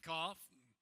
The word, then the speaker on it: Goff: I'll give you a hint. Goff. Goff.